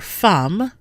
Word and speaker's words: femme: A vowel followed by a double N or M in the same syllable is not nasal. EMM is pronounced am here. Femme.